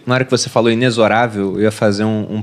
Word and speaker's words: inexorável: errei e tinha lá como é que era a pronúncia correta de inexorável eu achei que era inexorável como Geralmente eu até falo porque as pessoas não conhecem né mas é inexorável mesmo aquilo que é Implacável